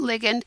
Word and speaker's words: ligand: this as a ligand think about this being very similar to ligament when you're talking about the body so that is the